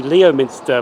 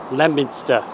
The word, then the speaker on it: Leominster: So we have now reached Leominster station, even though there's an O in it, but the O is silent for some strange reason, I don't know. Because I would have thought it'd be Leominster, but it's Leominster.